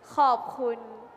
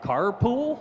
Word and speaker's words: ขอบคุณ: ขอบคุณ Yeah, okay. Carpool?